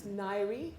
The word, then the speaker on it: Ngaire: It's Ngaire. It's impossibly spelt. Feel free to pronounce it however you like, but it sounds like diary or fiery when it's pronounced.